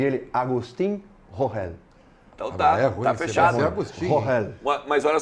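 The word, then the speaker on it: Agustín Rogel: Eu pedi para ele um áudio com a pronúncia. E ele, Agustín Rohel.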